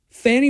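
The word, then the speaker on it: Fani: racketeering activity George's Rico includes many additional offenses Fanny Willis I think that's how you pronounce the name f a ni I it's either Fanny or fonnie I've heard it both both ways Fanny Willis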